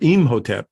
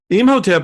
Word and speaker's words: Imhotep: uh as uh our Imhotep is the pronunciation supposedly in Egyptian um of him which which begs the